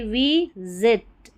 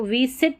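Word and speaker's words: visit: एस ई सी टी एस सेक्स वी आई वी जेट एस आई टी इसको विसिट नहीं बोलेंगे विजिट ज पढ़ रहे हैं एस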